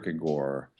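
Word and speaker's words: gaard: little inconsistent I know the proper Danish pronunciation is not to pronounce the hard D at the end so it's sort of Kore um Kore wow Kore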